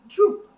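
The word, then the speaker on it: drop: Licorice in Dutch is pronounced droep.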